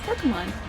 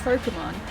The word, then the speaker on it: Pokémon: Why does someone pronounce it Pokémon? It's even in the theme theme song. This is Pokemon.